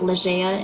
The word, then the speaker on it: Ligea: Ligeia in mythology, pronounced Ligeia in Winx Club, was not Neptune's wife, unlike the Andros royal family.